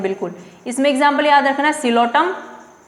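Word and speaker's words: Psilotum: इसमें एग्जाम्पल याद रखना, सिलोटम, P silent, सिलोटम, Lycopsida में लाइकोपोडियम, ऑल्सो सिलेजिनेला।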